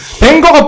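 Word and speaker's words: Wenger: 아르센, 이거는 뭐 프랑스인이기 때문에 프랑스식으로 읽어야 된다. 아르센 방제, 이렇게. 아르센 읽어야 돼. 방제라 읽어야 아. 된다. 뭔 개소리인가요? 벵거가 프랑스 발음입니다, 여러분.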